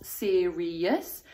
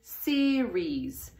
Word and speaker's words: series: So it's not three syllables serious, it's two syllables series.